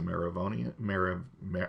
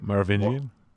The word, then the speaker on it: Merovingian: yes, Lambert Wilson as a Maravonian. I can never pronounce it correctly. Merovingian.